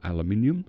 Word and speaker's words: aluminium: We can have an aluminum or aluminium depending on how you pronounced it.